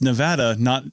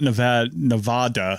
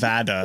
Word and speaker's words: Nevada: And it's like people who in Nevada who have it's Nevada, it's not Nevada. Yeah. It's Nevada. Nevadans get very uppity about the pronunciation of Nevada.